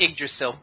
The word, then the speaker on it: Yggdrasil: The computer network in Valhalla base is named, excuse me for getting this wrong, Yggdrasil, referring to the tree that connected the 9 worlds of Norse cosmology. Yggdrasil? It's pronounced Yggdrasil.